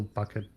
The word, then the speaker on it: Bucket: yeah, and can't change the lettering, so it's still bucket, perfectly by letters, but she keeps insisting that it's pronounced bouquet.